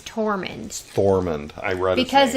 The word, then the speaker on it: Tormund: Jorah okay Norman Norman not a torment his name is tormund Foreman I read because